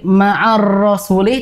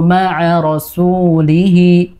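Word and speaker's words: مع رسوله: rasuli tidak begitu ya, karena ini ro-nya tidak tasdid. Jadi terbaca ma'ar rasuli seperti tasdid untuk ro-nya. Harusnya tidak ya. Wajahidu ma'a rasulihi ma'a ro, ini tidak ada tasdidnya. Jangan didobelkan.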